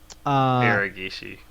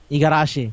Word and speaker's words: Igarashi: But Uh, yeah, I feel like Okay, that's why I Otsuka- never worked on I can't pronounce his name either. Iragishi. Igarashi.